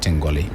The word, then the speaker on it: Tengol: And he was born in a town called Tengoli in the northern part of Ghana. And he was given the name, but as a Talensi people, we pronounce it straight Tengol.